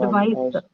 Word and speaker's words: advice: Advice. So the first syllable.